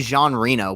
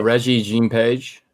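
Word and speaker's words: Regé-Jean Page: keep wanting to say I keep wanting to say Jean Reno but I know that's bro Reggie Jean page yeah who Marvel accidentally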